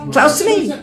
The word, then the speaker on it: Klausimai: Sounds like clouds. Yeah, Santa Claus. Santa Claus. No? So thank you very much. Ačiū labai. No questions? Klausimai.